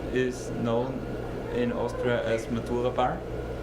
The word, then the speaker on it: Matura: Matura. Matura. Matura. Gotta roll that R.